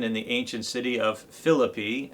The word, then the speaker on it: Philippi: the ancient city of Philippi, as they pronounce it in Greece.